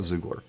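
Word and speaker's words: Xoogler: He's an ex-Googler, or Zoogler, I think is how they say it. I don't know if that's the proper term. It's ex letter X, Oogler. So I call it Zoogler.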